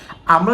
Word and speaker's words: a: এবং তখন তুমি এটার উচ্চারণটা করবা কি? আ।